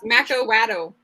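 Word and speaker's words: macuahuitl: Of course, somebody's going to come up and tell me that I'm pronouncing it wrong because lots of people seem. Yeah, it's Macawaddle.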